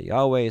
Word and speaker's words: Yahuwah: in case you're new we understand the father's name to be pronounced yahuwah some say Yahweh some say ahoma many other that's just how